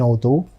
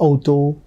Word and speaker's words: Auto: Unser Auto ist schnell. When you look at this word, you may be reminded of English auto. No, it is to be pronounced as auto, not auto, auto.